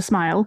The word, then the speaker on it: smials: So that that's what a hobbit hole is called is a smile. And yeah, smile. It's sm i a ls, but it's pronounced like smile. Like when you smile.